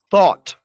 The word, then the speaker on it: thought: But the past tense of some irregular verbs, they sound like ought, think, thought, bring, brought, by, bought, fight, fought.